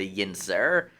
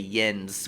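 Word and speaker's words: yinz: what we call a Yin sir um Yin sir is a slang for somebody in Pittsburgh instead of y'all in Pittsburgh we say yens which is spelled y-i-n-c um he is just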